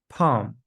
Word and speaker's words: palm: The L is silent in the following words: half, Calm, palm, salmon, folk. yolk.